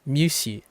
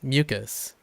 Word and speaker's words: mucus: Because C's don't go k. It goes s. So musi. That's how he says mucus. Because he sees a C. A C becomes s, right? Like s. So musi is how he gets it.